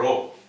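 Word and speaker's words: rho: for r r or Row in India this is popularly known as R so I am abated to pronounce it as R this is actually row r h o plus or minus .9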